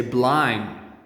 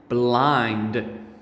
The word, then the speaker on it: blind: students make the mistake they don't say the d nicely at the end they say blind and this is wrong